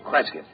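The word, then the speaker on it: Cresgyth: to record it instead is um well i'll spell it c-r-e-s-g-y-t-h kresget what's that local that's his phonetic interpretation of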